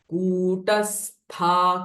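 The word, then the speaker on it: कूटस्था: कुटस्था कुल रूपिणी दिस कु इज दीर्घ लंग वल ल दिस कु इ रस्व शॉर्ट वल कुटस्था कुल रूपिणी स्था कुल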